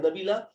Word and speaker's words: Nabila: three minutes for um uh nabila uh am i pronouncing your name correct correctly man could you hear us sorry you are pronouncing my name correct yes thank you thanks